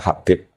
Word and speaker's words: Habib: Itu di harokatnya kitab itu ada yang nulis Hubeb. Tapi yang benar, yang benar itu bacanya Habib.